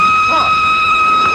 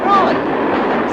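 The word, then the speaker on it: Froy: My name's Troy. You said Troy? No, not Lindy. Troy. Sorry, I can't hear. It rhymes with joy.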